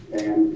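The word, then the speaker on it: Phang: First name is P-H-A-N-G. It's pronounced Van, P-H-A-N, Van, right.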